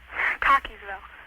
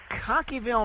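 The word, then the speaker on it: Cockeysville: Maryland it's how do you how do you pronounce it cockyville cockyville Maryland yeah why would you call in I've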